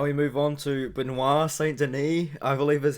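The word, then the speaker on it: Saint-Denis: now we move on to benoit saint denis i believe is how you say his name taking on gabriel miranda i've been calling him benoit saint denise um i might still call him benoit saint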